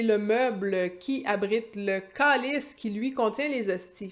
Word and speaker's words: câlisse: Bien entendu, on prononce pas calice, on prononce calice. On note le diphtongue, caolis, mon A qui se transforme en O pendant que je le dis.